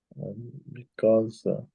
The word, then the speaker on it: because: Because everybody's after love. Você escuta um Zé aqui. Because.